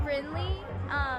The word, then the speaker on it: Brynlee: I'm Brinley. It's spelled Brynlee.